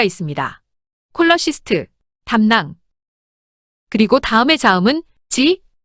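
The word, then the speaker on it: cholecyst: 발음이 될 수 있지만 의학 용어에서 CH는 K로 발음됩니다. 의학 용어에서는 CH, K로 발음되는 점 반드시 기억하세요. 이제 샘플로 확인해 볼까요? 또 다른 예로 담낭을 지칭하는 용어. 콜러시스트가 있습니다. 콜러시스트 담낭.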